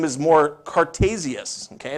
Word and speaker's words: Cartesius: his name is more cartesius okay that's the way it's pronounced in Latin and that's where the